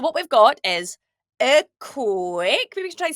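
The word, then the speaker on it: còig: So if we want to say the number 5 in Gaelic, we would say coig.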